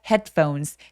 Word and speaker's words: headphones: phone without without without 연결 without headphones headphones는 굉장히 길게 발음할 것 같지만 조금 짧은 단모음으로 짧게 뾰족하게 발음해 주시면 돼요. 그래서 headphones가 아니라 headphones.